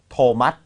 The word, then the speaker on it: Thomas: ครับ แล้ว ก็ มี โทมัส โทมัส ค่ะ โทมัส ซึ่ง สะกด t h o m a s ตt th ไม่ ได้ ออก เป็น th มัน ออก เป็น t นะ ฮะ สะกด เป็น th